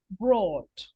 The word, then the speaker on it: brought: are um o-u-g-t yeah the pronunciation is with a long o so it says sort Court brought bought taught right yes brought very good Broad